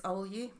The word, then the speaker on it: Awelye: It's Awelye, which I never heard of.